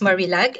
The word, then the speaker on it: Marillac: my name is actually it's pronounced marillac and don't worry it's a very unique name even for filipinos so a lot of people don't know how to pronounce uh pronounce my name and so yeah thank